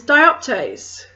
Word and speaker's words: dioptase: This is dioptase. This is the last one I was asked to pronounce for you.